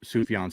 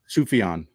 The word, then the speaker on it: Sufjan: My favorite album this year was Sufjan Stevens' Javelin.